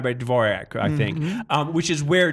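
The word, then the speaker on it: Dvořák: It's Dvorak. Are these classical musical references that I don't understand? How do you say Dvorak? Dvorak.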